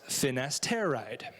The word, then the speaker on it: finasteride: for benign prostate hyperplasia the generic chemical is pronounced finasteride which means if the nurse you're talking to